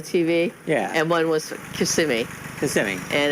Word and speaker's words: Kissimmee: few weeks oh cool at least you said it right kissing me I never used to know it was called Kissimmee I always said kiss of Me no it's Kissimmee yep Kissimmee they